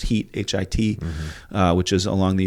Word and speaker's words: Hit: which was actually in in a town called pronounced Heat hit uh which is along the Euphrates River you